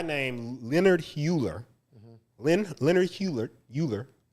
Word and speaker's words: Euler: basically this guy named leonard hueller leonard hewlett euler it's e-u-l-e-r if you if you want to know i spell it but it's e-u-l-e-r-i-n eulerian destiny and what